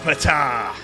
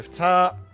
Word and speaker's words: Ptah: The Curse of Ptah. I think that's how you pronounce it. I think you don't say the key.